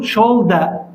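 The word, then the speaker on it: shoulder: وجه فيس فيس كتف شولدر شولدر هذا الار بالبريطاني ما ينطق يقولوا شولدا زي الاي او الاتش شولدا طيب ركبه نين نين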